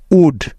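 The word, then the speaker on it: would: সুড এস এইচ ও ইউ এল ডি সুড উড ডব্লিউ ও ইউ এল ডি উড খেয়াল করে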